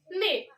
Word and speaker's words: neigh: So it the sound of horse neigh and the sound that we say neigh. There is a spelling is different, but pronunciation is it rhyming.